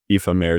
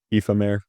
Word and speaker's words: Aoife-Maire: Hang on, I want to make sure I'm pronouncing it right. Aoife-Maire W. Aoife-Maire, thank you so much for submitting this, for real.